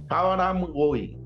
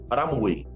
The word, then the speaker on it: Hamraoui: ¿Lo pronuncie bien? Haram Gawi. Aramui.